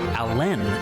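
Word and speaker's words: Alan: abdomen Chester Allen Arthur chose to pronounce his middle name with the emphasis on the second syllable so he is actually Chester Allen Arthur Grover Cleveland was both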